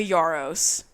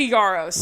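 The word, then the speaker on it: Yarros: as a side note her last name is spelled y a r r oos and every time I saw it I thought it was Yos y a b b o s like yeah no Rebecca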